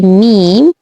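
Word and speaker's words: م: Now the sound of the letter, this letter which is said to be meme, its sound is like the English letter M. M. Now this one is also from the lip letters, because you have to pronounce it from your lips.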